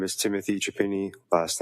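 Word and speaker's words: Chiapini: My name is Timothy Japini. Last name is spelled C H I A.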